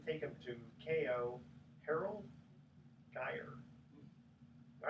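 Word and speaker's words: Geier: I guess you pronounce it G-E-I-E-R. Geyer.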